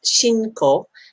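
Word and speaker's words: 信仰: It is pronounced shinko and it means faith.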